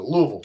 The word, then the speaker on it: Louisville: That's the way to pronounce it. Louisville. KJ. Louisville.